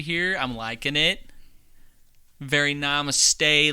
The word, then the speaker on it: namaste: i'm liking it very namaste like you didn't even say it right namaste i said namaste namaste nah look here